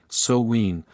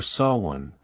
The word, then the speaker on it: Samhain: thousands of years to the festival of samhain pronounced su when sowween or saw one the celtic new year's festival the name means